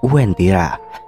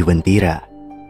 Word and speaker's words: Uwentira: Tetapi dengan berjalannya waktu, sampai sekarang masyarakat sekitar lebih terbiasa menyebutnya sebagai Uwentira. Namun, pelafalan huruf U kadang tidak terdengar dengan jelas, yang mengakibatkan sebagian orang mendengarnya sebagai Wentira.